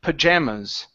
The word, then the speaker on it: pajamas: the word pajamas okay instead of pajamas okay our stress is right here on the J A pajamas pajamas okay one more